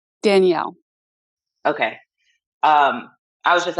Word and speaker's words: Danelle: you pronounce your name Danelle or do you pronounce it Danielle Danielle okay um I was